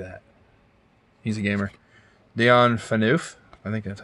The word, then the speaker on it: Phaneuf: Dion Phaneuf. I think that's how you pronounce it.